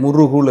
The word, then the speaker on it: முருகு: முறுகு அப்படினாலே அழகுன்னு அர்த்தம் மெல்லினம் இடையினம் வல்லினம் இந்த மூன்று எழுத்துக்களுமே முறுகுல இருக்கும் இம் உ முர் உ ரு இக் உ கூ கு முறுகு அருமைங்க அருமை எப்படி பாருங்க